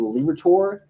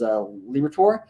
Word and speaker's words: Liberatore: Matthew Liberatore. I like to call him a Liberator because that's how I pronounced his name for the first couple weeks before I realized it was Liberatore.